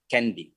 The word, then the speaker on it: Kandy: Entonces, con una acción en inglés se pronuncia candy o candy.